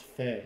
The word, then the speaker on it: Fae: It's pronounced Fae. Yes.